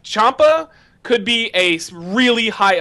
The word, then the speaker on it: Ciampa: Ciampa or Ciampi, how it's spelled. It's Ciampa.